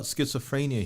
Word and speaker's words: schizophrenia: You know, we're talking about schizophrenia here. You want to join? Is that the correct pronunciation, Mr.